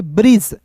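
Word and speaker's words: bridge: जो है साइलेंट होगा बी आर आई जी ई तो क्या पढ़ेंगे ब्रिज बी आर को दोस्तों क्या पढ़ते हैं? बी आर को ब्र पढ़ते हैं। आई है तो इ के रूप में उच्चारण करेंगे और जी का दोस्तों ज होता है। ब्रिज।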